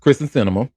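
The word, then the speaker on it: Kyrsten Sinema: But Kristen Cinema, uh is that did I say her name right? Yep. Kristen Cinema.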